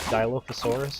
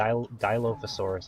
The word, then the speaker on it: Dilophosaurus: now that um that this is pronounced I think D I think is correct Dilophosaurus is the actual name of the dinosaur I'm really bad with